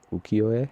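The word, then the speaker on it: ukiyo-e: style called i need to make sure i pronounce this right ukio uk i y o e ukiyo and um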